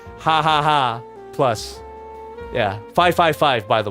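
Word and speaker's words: jaja: but they pronounce it haaha of course cuz J is pronounced like ha in in Spanish in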